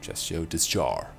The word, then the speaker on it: Chasseur de Chars: Chasseur de Chars. Without S in the end.